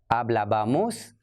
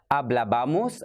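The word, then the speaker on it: hablábamos: The only accent is on the abamos, the first A. Hablaba, hablabas, hablaba, hablabamos, hablabais and hablaban. So the conjugation is hablaba, hablabas, hablaba, singular, hablabamos, hablabais and hablaban, plural.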